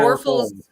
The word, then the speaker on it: Warfels: Warfels. I can't pronounce know it, about so that. whatever it is, it is. Sorry. Oh, Just say war and then full.